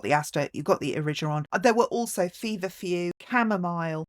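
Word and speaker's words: Erigeron: Number 6 is Origeron or Origeron. Some people say I just don't like the hard G myself, so I say Origeron.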